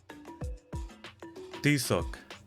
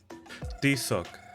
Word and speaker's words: Tizoc: Tizoc. Tizoc.